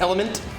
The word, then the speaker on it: LMNT: it's in the title lmnt pronounced element yeah how much do